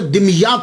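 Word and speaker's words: دمياط: तो ये सैयद जमालुद्दीन साउजी फिर वहां से मुंतकिल हो गए, दिमयात चले गए। इसके बहुत सारे प्रोनाउंसिएशन हैं, लेकिन सबसे जो आसान है वो मैं आपको बता रहा हूं, दिमयात।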